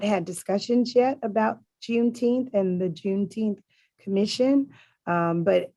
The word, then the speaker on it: Juneteenth: the june 10 juneteenth i guess i'm pronouncing it right juneteenth um commission that's how they pronounce it in texas juneteenth okay commission um and